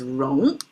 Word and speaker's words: 戎: Here it's pronounced as wrong and I translate as a weapons because really it's made of two parts.